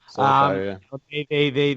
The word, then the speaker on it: Solskjaer: I'd be a little scared, almost like when Man United kind of appointed Ole Gunnar Solskjaer, whose name I think I just butchered, but Solskjaer, I think it's pronounced. Solskjaer.